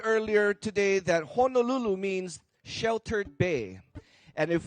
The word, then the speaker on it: Honolulu: today so as much as we all say Honolulu by the way the proper pronunciation is Honolulu so let's all try